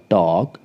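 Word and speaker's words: talk: आधा next example है टॉक टी ए एल के के से पहले एल है यहां पर एल साइलेंट रहेगा यह बन जाएगा आपका टॉक इसका अर्थ होता है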